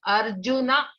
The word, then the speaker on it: Arjuna: We should pronounce it as Arjuna, give a pass and then say Uvacha. You cannot say Arjuna Uvacha.